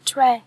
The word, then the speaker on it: treasure: treasure là kho báu các em nhớ đọc là âm e nha tre chứ không phải là tree nhé treasure treasury nonsense